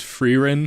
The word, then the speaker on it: Frieren: beautiful also listen I I know it's pronounced frein but I don't know frein sounds better so I'm going to